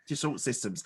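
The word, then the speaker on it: Dassault Systèmes: So was it, I don't know how to pronounce, Dassault Systems? Yes. Dassault Systems.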